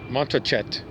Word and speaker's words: Montrachet: he tangled his tongue trying to pronounce the name of the wine montreshe americans might say montochet he arrived at what seemed to him an acceptable pronunciation montrachet wiped the bottle dry